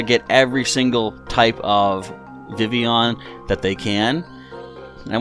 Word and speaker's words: Vivillon: Then it evolves into like a butterfly kind of thing called, I think it's technically pronounced Vivian, but I like to call it Vivillon sometimes because I think that might annoy people.